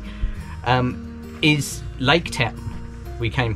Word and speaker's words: Pukaki: And Lake Pukaki, or if that's correctly pronounced, Pukaki, yeah. Pukaki, is Lake Town we came past.